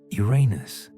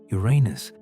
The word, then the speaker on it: Uranus: Some astronomers advocate for adopting the classical Greek pronunciation, which places the emphasis on the first syllable, making it sound like unus rather than the more problematic alternative.